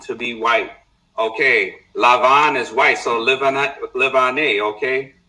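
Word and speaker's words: לבן: This is how you say white in Hebrew. I'm going to show y'all. Lavan. This is the root, okay? Lamed Beit Nun, to be white. Okay? Lavan, to be white.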